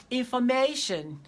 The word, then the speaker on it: information: Do not say information. Say information. Because when you have tion as suffix, the syllable that comes before that suffix is usually stressed.